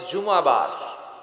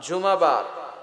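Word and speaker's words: জুমুআহ: জুমাবার। সূরাটার নাম হচ্ছে সূরাতুল জুম। আমার সাথে সাথে বলেন সূরাতুল জুম। সবাই বলেন সূরাতুল জুমা। অনেকে বলে ফেলে জুমা জুমা আসলে আরবিতে শুদ্ধ উচ্চারণটা হচ্ছে জুমু আহ সূরাতুল জুমু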